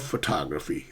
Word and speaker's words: photography: Is it I love photography or I love photography? It's I love photography.